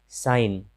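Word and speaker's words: sign: साइन, साइन मतलब चिन्ह। तो यहाँ हम देख रहे हैं कि जी के बाद एन है, तो जी का उच्चारण नहीं हो रहा है।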